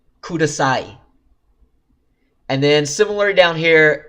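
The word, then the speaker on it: ください: like this but close when a and E are next to each other they combine to just become I and example I haven't this is the little tag ending for words that is a kudasai which means police so it is khuda saw e becomes kudasai and then similarly down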